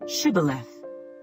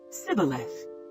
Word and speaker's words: shibboleth: would say to him then say shibboleth and he would say sibeleth for he could not pronounce it right then they would take